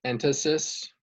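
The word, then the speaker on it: entasis: n so one member suggests using columns with entities yes and re-study chimney that but that's only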